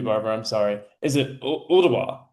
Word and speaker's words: Ooltewah: to Chattanooga is uh but I'm going to mispronounce it too, Barbara, I'm sorry. Is it Ooltewah, right?